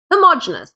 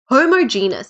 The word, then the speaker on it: homogeneous: different types of mixtures homogeneous or homogeneous it depends on how you say it is a mixture of